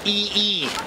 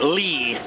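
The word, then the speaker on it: Yi I: the same guy yook e e yook his pen name e his family name and E is also his personal name it's a different Chinese character but they're both pronounced e all right Lee in other words by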